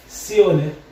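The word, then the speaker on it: zione: যদি আমরা লিখতে চাই সিওনে, এরকম জেতা ই ও এন এ, জেতা ই, এখানে ছয়ের মতো উচ্চারণ হবে, জেতা ই সি ও সিও এন এ, সিওনে, এগুলো হলো ব্যতিক্রম।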